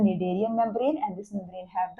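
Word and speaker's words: Schneiderian: ठीक है, SCH जो है दिस इज साइलेंट और हम इसे बुलाते हैं निडेरियन membrane and इट is responsible for the perception of smell.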